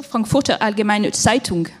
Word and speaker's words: Frankfurter Allgemeine Zeitung: c'est moi qui me suis trompée dans la prononciation, Frankfurter Allgemeine Zeitung, pardon, pour avoir un regard un petit peu d'outre-Rhin sur les idées, les réalités européennes.